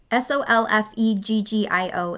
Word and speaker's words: Solfeggio: Solfeggio is how you say that, frequencies.